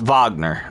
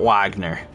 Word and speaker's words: Wagner: to pronounce it correctly it's Vagner not not Wagner but I just you